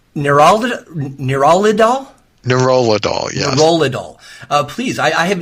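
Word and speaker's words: nerolidol: me is it nural nidol neurod dool yes nurad dool uh please I I have never learned anything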